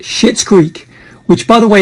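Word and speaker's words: Schitt's: and my recommendation is a netflix series called shit's greek which by the way is spelled s-c-h-i-t-t-s it's a low-budget divinely acted heavily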